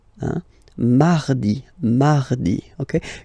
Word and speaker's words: mardi: Mardi, mardi, okay? You don't need to go too deep like mardi. No, no, no. You don't move your tongue, so it doesn't sound like mardi. No, it's really soft.